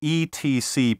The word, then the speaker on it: etc.: For the abbreviation ETC period, take your time and say etc. It's sloppy to say etc., and even worse to say etc.